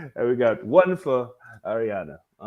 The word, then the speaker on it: Ariana: gonna say it right Adriana Grande no it's Ariana like there but missing